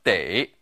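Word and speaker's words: 得: also pronounced du but here it should be pronounced de in a previous lesson we learned that this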